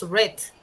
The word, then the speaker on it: read: Para empezar, read se escribe read, pero su pronunciación es red, como el color rojo, red, en forma pasada.